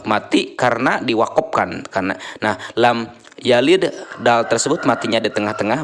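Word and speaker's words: لَمْ يَلِدْ: eh dibaca mantul ya memantulkan huruf Qalqalah tetapi dengan ringan dan menyambungkan dengan bacaan setelahnya jangan lepas disitu Tapi kita ada pantulan dan dilanjutkan dengan menyambungkan dengan bacaan setelahnya ia lidwa gitu langsung ya lam yalid walam lam yalid walam gitu yah Nah itu seperti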